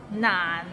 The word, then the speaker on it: 難: Nan is not nan. It means difficult and it's difficult to pronounce. So it starts with n and ends with another n. Nan, and it's in a low tone, so nan.